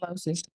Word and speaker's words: Losi: Pronouncing all those right. It's Losi. Exhibit number 2.